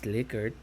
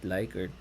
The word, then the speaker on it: Likert: By the way, it's pronounced as Likert, not Likert.